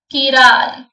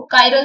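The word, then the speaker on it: chiral: कीराल, या फिर कई बार तो उसको कायरल भी बोलते हैं, डिपेंड ऑन प्रोनाउंसिएशन।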